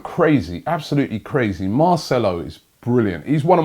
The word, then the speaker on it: Marcelo: go at me, yes, I did say Marcello, right? I got a brethren called Marcello. I think that's why I kept saying it. It is Marcelo. I do get some pronunciations wrong.